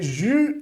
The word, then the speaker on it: jus: Número 4, le jus de fruits, ok? Jus de fruits. Lembrando aqui, essa pronúncia é diferente, é um U, beleza?